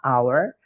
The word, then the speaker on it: hour: Jadi tulisannya walaupun awalannya H ya teman-teman, hour, tapi karena hanya itu tidak dibaca, bacanya adalah a hour, maka pakainya an hour.